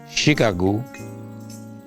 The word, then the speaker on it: Chicago: well um I see Chicago struggling for its Humanity to embrace peaceful behavior um um I'm saddened by so many uh deaths by uh gun violence um Chicago which was originally pronounced shago it was a land